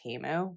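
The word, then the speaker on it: Temu: recent teu haul or Apparently after Super Bowl we've learned that it's pronounced teu but I don't know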